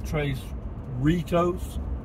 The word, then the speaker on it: Tres Ritos: But you want to live in Tres Ritos? Rhymes with Fritos.